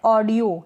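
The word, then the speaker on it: audio: ओ है ना इस ओ को यो पढ़ रहे हैं ऑडियो यानी ओ भी लिख सकते हैं और यो भी लिख सकते हैं दोनों ही करेक्ट है यानी जो अ है ना उसके ऊपर ओ की मात्रा लग जाएगी तो क्या बन जाएगा ऑ बन जाएगा इस तरीके से यह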